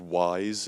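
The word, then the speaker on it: Wwise: piece of software called wise it spelled with two W's like we're wise but the first one's silent for whatever reason and that's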